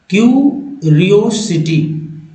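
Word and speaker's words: curiosity: ज पढ़ जा रहा लेकिन इस सही उच्चारण जो देखा जाए जनरली तो सिटी बोल देते लेकिन एक्चुअल में क्यूरिया सिटी क्यूरिया देखि क्य क्यूरियोसिटी क्यूरियोसिटी क्यूरियोसिटी हिंदी अर्थ जिज्ञासा जी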